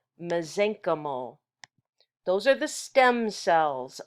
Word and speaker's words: mesenchymal: a terrible word to spell but it it's pronounced mesenchymal those are the stem cells of connective tissue